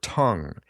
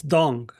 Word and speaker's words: Tung: Is it pronounced dong or tongue? Usually you see it spelled in English as tongue, but I know you've spent time in Taiwan. How's it pronounced? It's dong. It's dong.